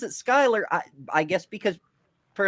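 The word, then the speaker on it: Schuyler: We have a um around my area there's a whole bunch of streets named Skyler, but it's spelled Scheler. But if you say where's Schuler Street, people look at you funny because they have no idea what you're talking about.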